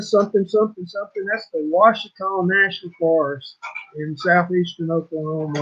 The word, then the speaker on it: Ouachita: That's the Washita National Forest in southeastern Oklahoma or south central Oklahoma. And it's OACHITA. It's not pronounced like it's spelled.